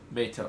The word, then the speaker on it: Matos: Matos. It's like I said, I'll spell it out.